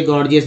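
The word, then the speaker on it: gorgeous: ज कब बोलते हैं, जैसे गॉर्जियस ले लीजिए गॉर्जियस, पहला जी ग दूसरा जी ज के रूप में उच्चारण हुआ गॉर्जियस।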